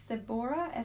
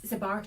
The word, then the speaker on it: seborrheic: She says, I've bad seborrheic, SEBORAH, dermatitis. Seborrheic dermatitis. Seborrheic. Yeah. Dermatitis on my face, and I've tried everything. And then 3 crying face emojis. Please help. Seborrheic dermatitis, it's a nuisance, and it's a greasy looking flakiness.